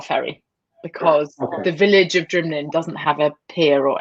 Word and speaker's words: Nc'nean: Yes, Nc'nean.